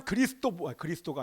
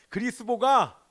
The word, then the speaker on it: 그리스보: 회당장 그리스도가 아니라 자꾸 나는 이게 발음이요, 그리스보가 예수님을 영접하면서 그 사람 때문에 수많은 유대인들이 돌아옵니다.